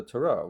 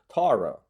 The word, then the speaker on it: Tarot: But in the United States, we tend to for some reason, favor the French pronunciation, which is tarot, but because we're more relaxed in our vowels, often we go tarot.